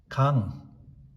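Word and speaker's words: གངས: So every time you come across two dots, three letters between two dots and ga nga sa, always read it as kang.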